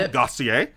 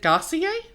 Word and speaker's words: Gosselaar: Mark-Paul Gosselaar. Is it Gosselaar? Gosselaar? I thought it was Gosselaar. I don't know. I'm going to say it like that. Oh, okay. Like dossier, but with a G.